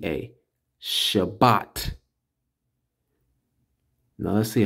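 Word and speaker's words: שבת: Sha B A that's ba ta t a Shabbat now let's see how they say it over here I guess since I'm concerning recording don't let me do it that's all right but it's pronounced Shabbat all right and we see right here look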